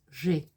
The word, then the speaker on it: j'ai: je, add the e, and it becomes j'ai. That's one syllable.